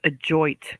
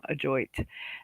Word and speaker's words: ajoite: I'm telling you, this adjoit comes up more often than not.